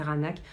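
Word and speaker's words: Qaanaaq: Ça s'écrit Kanak, mais c'est Ranak.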